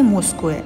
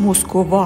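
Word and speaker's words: Москва: پایتخت روسی مسکوئه البته به زبون ما مسکو تلفظ میشه تلفظ اصلیش مسکووا هست یه چیزی حدود ۵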